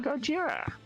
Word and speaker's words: Gojira: branches attention everybody ah Gojira that's not even being racist that's how they pronounce Godzilla it would be racist Gojira in Japan I know that's what